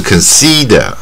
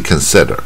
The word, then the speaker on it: consider: 然后这个认为呢 consider 啊，重点就是这个 if，它不是 consider，不是 consider，是 consider，就是 if 带耳的音，e 带耳